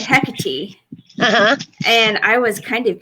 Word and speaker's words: Hecate: So yes, we're going to talk about Hecate, which is the way my friend Catherine Sorelos, yes, I'm a name dropper, said that you should pronounce it.